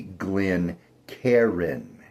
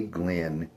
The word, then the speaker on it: Glencairn: It is not, repeat, not. Again, I say not a Glencairn. It is a Glencairn. 2 syllables, not 3.